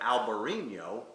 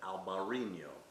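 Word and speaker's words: Albariño: And a grape like Albarino is perfect for this climate.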